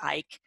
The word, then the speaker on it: Icke: many of his videos he pronounces it Ike I'm good with that